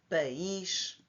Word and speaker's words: país: Pais e país. País é acentuada porque o i faz é dividido da primeira sílaba, não faz parte da sílaba p, mas na palavra pais só tem uma sílaba.